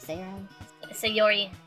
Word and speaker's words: Sayori: your eye i even forgot how i was pronouncing your name sarah say all right say yori i don't know i know how to pronounce